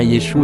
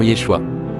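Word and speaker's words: Yeshu: Le ayin final était muet, donc on prononçait bien Yéshou et non Yéshua.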